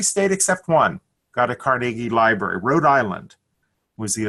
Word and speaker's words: Carnegie: The Carnegie Library of Pittsburgh in Lawrenceville, and it is pronounced Carnegie. Do not listen to those folks in New York City who say Carnegie.